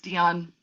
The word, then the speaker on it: Dion: So Dad is John Lorenharmer, Dion, my husband's name, so we have a family name, and it's Dion, rhymes with Celine Dion, or matches the same pronunciation.